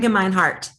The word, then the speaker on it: Gemeinhart: Dan Gemeinhart.